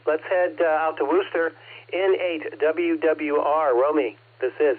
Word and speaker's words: Worcester: It's funny uh in Rocky River in part pronounced Worster Road, but city of Worcester.